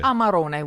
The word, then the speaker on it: Amarone: Amarone, we say.